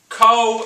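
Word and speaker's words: kohl: Khole, the person, is spelled C-O-L-E. Khole in ancient Egypt is spelled K-O-H-L. They're 2 different. Khole, C-O-L-E, Khole, K-O-H-L.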